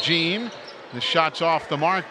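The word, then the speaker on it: Jean: one is Derrick gene spells it JEA n pronounced gene the shots off the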